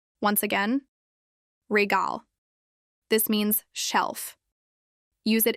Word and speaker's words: Regal: Pronounce it as prize regal. Once again, regal. This means shelf. Use it in milkal which means the milk is on the shelf. Pronounce it as regal.